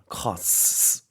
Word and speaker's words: costs: costs. 뭔가 S를 두 번 하는 느낌이에요, 그렇죠?